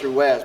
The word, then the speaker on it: Ruiz: day she goes sergeant you're pronouncing my name wrong I'm like whoa it's Ruiz and she goes no it's your Wes but I don't bother